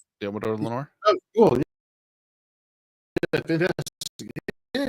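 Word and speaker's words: Deommodore Lenoir: I can't always mispronounce his name. Diamador Lenore. Diamador Lenore.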